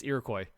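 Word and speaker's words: Iroquois: It's not qua. It's not IUqua. It's Irakcoy.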